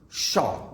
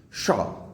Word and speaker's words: pshaw: And fifthly, we discuss about the word PSHAW, shaw. The pronunciation of this term will be shaw.